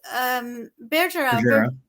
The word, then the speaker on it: Bergera: And Gary Bergera, I call him Bergera because he was my teacher in the MTC and he taught me French and he was Elder Bergera. So the French pronunciation.